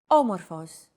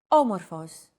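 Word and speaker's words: άμορφος: a language is intonation did you notice the accent mark above the first letter there is only one type of accent mark in modern Greek the acute accent it adds stress to a syllable a stressed syllable usually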